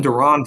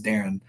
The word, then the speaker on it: Deron: They called him Duran for like his whole freshman year, and he finally like kind of said, "Hey, my name is Darren."